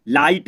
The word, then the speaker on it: light: तो दोस्तों अब देखिए LIGHT इसको पढ़ते हैं लाइट, तो GHT आया है इसमें, तो HT को हमको GH को पढ़ना नहीं है, तो LIGHT तो लाइट, GH को तो नहीं पढ़ा मैंने दोस्तों, लाइट इसको तो छोड़ दिया।